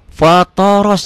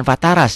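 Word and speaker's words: فطر: Jim inni wajjahtu wajhi lilladzi bukan lillati lilladzi fthoros jangan fataras ya fthoros samawati Wal ARD jangan Wal Arda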